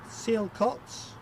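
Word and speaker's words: Sialkot: and Neville new one for me see it seal cots well I'm not pronouncing that correctly s-i-a-l-k-o-t Pakistan and Medina in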